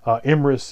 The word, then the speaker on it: Emrys: a king or hiking Emrys is the Welsh pronunciation of Ambrosius and Ambrosius did lead